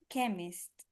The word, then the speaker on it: chemist: 8 102 and this chemist chemist the the CH sounds like a k k chemist chemist yes and 1,802 so